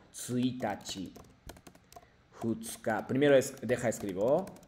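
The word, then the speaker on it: 一日: La pronunciación de la, bueno, cómo llamar días son diferentes, no es ichinichi, sino tsuitachi, futsuka.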